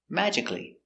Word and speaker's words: magically: magically so we have three forms of this magically the rabbit appeared magically pronunciation magically m a ma J mag mag